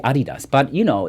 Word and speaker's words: Adidas: can hear it that you said adidas because that's the proper way of saying it sorry I don't want to blame anyone you can do whatever but a lot of Americans say adidas but it's actually Adi does but you know